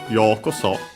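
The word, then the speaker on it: ようこそ: Because after that we have yokoso, another expression. We've seen it before, because I remember actually we have checked out also the origin. The accent is on the yo, so high and everything else low.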